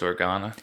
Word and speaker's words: Organa: i i should have looked up how to pronounce it i think it's organa he comes to obi-wan begging him to go